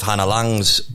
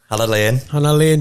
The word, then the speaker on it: Hannah Lane: And obviously off the back of Hannah Lang's show, Jack's team Hannah got in Lane. touch. Hannah Lane, Just to correct you. Am I actually getting that wrong, am I? No, that's how you pronounce it.